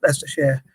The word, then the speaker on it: Leicestershire: Leicester's, excuse me, Leicestershire is, or Leicestershire, how we pronounce it, is quite a diverse place.